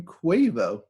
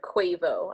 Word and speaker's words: Quavo: At number 5, Intentions by Justin Bieber featuring Quavo. Quavo? It's Quavo. Quavo? Because he was part of the NBA All-Star game, so they said its name Oh. constantly. Okay, then yes. It's Quavo. I've only heard Quavo.